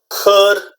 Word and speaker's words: could: talk about the pronunciation those ELLs are silent okay there's you know don't pronounce them okay it's good like